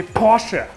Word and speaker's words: Porsche: open up here pp Vasa the name is pronounced mercedes-benz mercedes-benz Germany we say Porsha Porsha get this wrong again okay Porsha we're